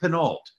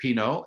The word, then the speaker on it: Pineault: And it's because we have a very special guest, Nick Pineault. And Nick, am I pronouncing your last name correctly? It's like the wine, Pinot, like Pinot No.